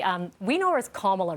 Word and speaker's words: Kamala: spoke with wanda right she knows her as kamela okay back in the